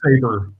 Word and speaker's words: Sabre: But it's pronounced Saber, but it's S-A-B-R-E.